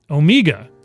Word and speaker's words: Omega: found I live in Omega Georgia but repr pronounce it with a long e Omega ah Omega well I just learned